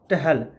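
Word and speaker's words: Stahl: Mathews मेसलन्स और Franklin टहल, एस इसमें साइलेंट है, ठीक है।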